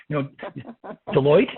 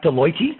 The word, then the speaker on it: Deloitte: So they not only understand, as Deborah joked a bit ago, how to pronounce, your name, Deloitte, not Deloitte, right?